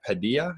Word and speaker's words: Padilla: Padilla, is that it? Padilla.